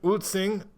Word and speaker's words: Ulcinj: Taipei where are you now I am in utsing I've worked on the pronunciation of that it's spelled ulcinj and uh